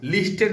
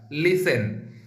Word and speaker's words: listen: মনে রাখবা, LISTEN, ওটা কিন্তু লিসেন হয়, লিস্টেন না কিন্তু উচ্চারণটা, লিসেন।